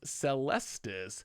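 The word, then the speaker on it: Celestus: you don't know goldfish it's celestis this stress is on the second syllable not the first one celestis yeah what was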